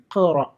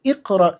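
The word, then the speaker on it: اقرأ: അതേപോലെ ഇവിടെ വായിക്കുമ്പോൾ ബിസ്മില്ലാഹിർ റഹ്മാനിർ റഹീമി ഖറ എന്ന് നമുക്ക് വായിക്കാം. റഹീമി ഇഖ്റ എന്ന് വായിക്കേണ്ടതില്ല. ചേർത്ത് ഓതുകയാണെങ്കിൽ റഹീമി ഖറ ബിസ്മി എന്ന് വായിക്കാൻ സാധിക്കും.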